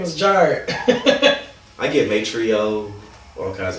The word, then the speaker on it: Jharid: It's Jharid, and people always say like Jharid.